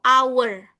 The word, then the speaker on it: hour: Oh, this one our ya. So, everyone, cara pengucapan ini itu bukan. Kenapa? H-nya hilang ya. Jadi ini disebut dengan silent ha. Jadi bacanya itu our ya.